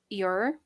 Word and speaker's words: Ur: So, a chance dinner party conversation persuaded Agatha to travel to Baghdad and then to the archaeological site at Ur, that's how you pronounce that, where she became really good friends with the Woolies who ran the dig.